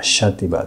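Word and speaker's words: Xàtiva: その言葉では Xから始まって発音はシャーティバーですそのシティ場合につき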